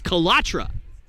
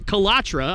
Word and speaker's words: Kalatra: and say that uh the correct pronunciation for chatham's last name is calatra so his name is chaithan kalatra i assume that that